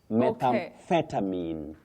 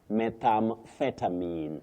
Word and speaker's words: methamphetamine: Now, that powerful illegal drug, it is, you say metham. You begin with metham, then we use the stress on feta. Methamphetamine. Phetamine, not mine. Methamphetamine. That is the way to pronounce it, Betty.